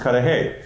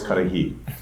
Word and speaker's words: Cudahy: And he said, if I'm in Wisconsin, it's Cudahy. If I'm in Illinois, it's Cudahy.